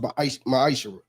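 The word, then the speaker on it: מעשר: Means 10th in Hebrew, and it's pronounced Ma'ishra.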